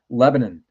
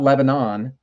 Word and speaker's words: Lebanon: Lebanon, not Lebanon, but Lebanon, spelled the same way.